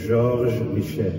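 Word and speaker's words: George Michael: A song by a wonderful singer that we lost in 2016 by the name of Georges Michel. That's how you say it in French, isn't it?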